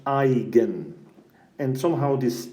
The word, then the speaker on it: eigen: eigenvalues and eigenvectors so this word eigen is actually a German word and it means cells and it's pronounced I again and somehow this name